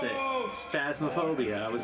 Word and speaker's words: Phasmophobia: phasmaphobia oh i was right on how to pronounce it phasmaphobia i was right all right let's go